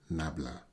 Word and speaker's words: Nabla: And the symbol is pronounced del or Nabla.